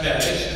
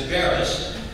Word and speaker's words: Beres: And so my last name is Hungarian. It should be pronounced Beres. Americanized it as Beres. But he insisted on it being Beres.